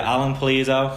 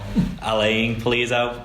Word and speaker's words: Alan Pulido: Yeah, Alan Pulido. I think he pronounces it more Alain Pulido, but you know, is how it is.